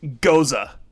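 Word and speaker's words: Gose: What I really enjoyed about this, yes, Jordan, It's pronounced goza.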